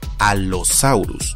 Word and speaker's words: Allosaurus: letras dobles tenemos a la doble l que se debe pronunciar de esa manera doble es decir una vez